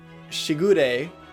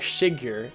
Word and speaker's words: Shigure: Uh I remember first pronouncing Shigure as Shiger, and everyone was like, "Why are you calling it that?"